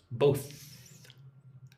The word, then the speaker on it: both: So both is the hard one. Them is the soft one. With both you need to lick your top teeth. Both.